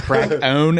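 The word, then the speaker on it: Krakoan: He pronounced it perfectly. Crack. The crack own age.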